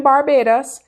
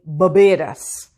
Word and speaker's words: Barbados: Remember that true Bajans don't live in Barbados, they live in Barbados. Learn this pronunciation.